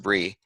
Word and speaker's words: Brigid: of the pagan Saint Bree or it's spelled Brigid or pronounced Bree in order to bring